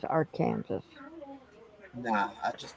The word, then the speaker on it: Arkansas: No, that's Arkansas. The our Kansas River is our Kansas.